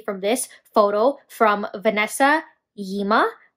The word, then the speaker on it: Gyimah: this photo from Vanessa Yima. I'm pretty sure the G is silent.